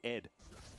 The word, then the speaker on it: ADD: It was ADD back in the day as well, and you're supposed to pronounce it Ed.